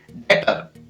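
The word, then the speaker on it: debtor: Date, DE, डे और T, B है वो साइलेंट रहेगा। इसी प्रकार डेटर, यहाँ पर सेम है।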